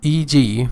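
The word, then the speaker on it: e.g.: next Latin phrase is eg for example abbreviation for exempli gratia these are latin phrases a latin phrase which means for example it can be pronounced as EG or for example so the abbreviation for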